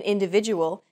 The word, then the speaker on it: individual: that are unstressed individual the stressed syllable VI in individual is deemed more important so it's pronounced longer than all other syllables listen to it again